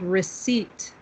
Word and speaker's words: receipt: very first paragraph yes it does not sound how it's spelled okay who can tell me how it is spelled iptf okay good you all found it so when we hear when we when we look at this word it looks like maybe we would say recepta or recipe or something